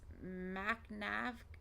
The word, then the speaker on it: McNav: McNav, pronounced MacNav, he kept shouting it.